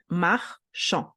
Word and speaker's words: marchand: So when you have un marchand, when we pronounce it, we read M-A-R, we split at here, R. C-H-A-N, A-N together within the same syllable make the sound en, and then the D is there, doesn't have a best friend vowel, gets dropped. So, marchand.